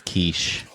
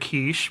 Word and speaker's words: quiche: And he mispronounced it in front of her entire family. A quickie. And he said a quickie.